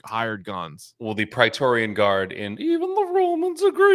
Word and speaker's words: Praetorian: He also gets the, how do you pronounce this? The Praetorian guards. Praetorian, yeah.